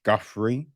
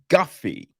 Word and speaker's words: Guffey: and directed by Josh Guthrie um oh no there's no R I'm an idiot it's Guffy right I believe so I feel that's how you pronounce it Josh Guffey right